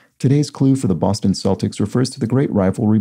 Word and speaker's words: Celtics: the shortened version celts here are pronounced with a soft c sound like celtics and salts so sorry about that i guess i mispronounced that um because i'm more familiar with celtic being pronounced with a hard c sound and uh speaking of